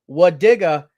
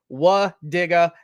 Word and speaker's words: Wadiga: Wadiga is how we pronounce that name.